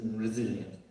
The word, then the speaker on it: resilient: always confused but then finally i read that you should compare it to brazilians so resilient now i know how